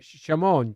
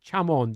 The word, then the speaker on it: Chamon: Wizards that completely have mastered hon shamon chamon depending on how you want to pronounce it and the gold wind